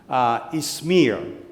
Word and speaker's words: Izmir: Tiene el nombre moderno, es Izmir. Se escribe I de iglesia, Z-M-I de iglesia.